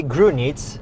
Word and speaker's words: Grünitz: So, uh, with me it's, uh, Grunit. It's is the wrong the wrong or the right pronunciation for your name. It's the right perfect the right pronunciation. Grunit.